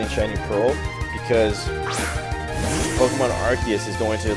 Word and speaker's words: Arceus: But Arceus.